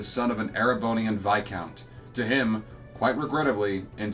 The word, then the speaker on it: viscount: of an arabon and vicount to him quite regrettably in sir's humble opinion yes I did pronounce that right by the way it is vicount not Viscount it's vicount because it's French the